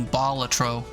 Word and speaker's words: Balatro: however you pronounce it I looked it up once and the internet told me batro is the preferred way so that's how I